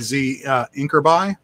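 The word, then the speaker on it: ZINCRBY: But as far as the ones for pronouncing, I like Z Inkerby, which I pronounce Zinkerby, and I always think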